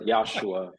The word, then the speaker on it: Yashua: he does it you know yasua am I pronouncing your name correctly yosua like josua exactly that's correct yosua yosua and I'm excited to have josua is